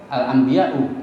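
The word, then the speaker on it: الأنبياء: Kalimat nabi kita kan bacanya pakai ya, nabiyun ya kan? Nabi ya kan? Nabiyullah, enggak pernah ada hamzahnya. Tapi kalau giliran jamak itu ada hamzahnya. Al-anbiya'u, itu hamzah dari mana?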